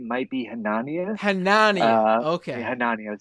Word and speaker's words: Hanania: Hanania, soft A. Yeah. Like Narnia? Yeah. Hanania.